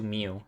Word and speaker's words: Mew: charlotte meal ignore that i use two mew it's it's spelled like the pokemon m-e-w not mu what the person who